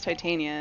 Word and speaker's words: Titania: I don't have it in our name it's pronounced yes how do you not know how to prance titania it's the queen of the fairies I guess